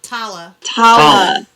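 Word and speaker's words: Talla: we've said it right for a while it's tala yeah i liked him i like tala and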